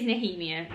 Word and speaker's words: Nehemia: minute and so i looked it up the pronunciation it's kale not cow and it is nahimia not nehemiah kale and dorian are still in adult and